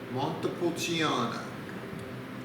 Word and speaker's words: Montepulciano: hope you enjoy it our next one is pronounced montepulciano montepulciano is a medieval town in italy it's